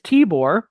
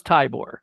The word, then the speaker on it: Tibor: And it says how to say his name, pronounce it is Tibor instead. I thought it was Tybor. I always call him Tybor. And I think I've seen other people call him Tybor too. And it's Tibor, like T, the I sounds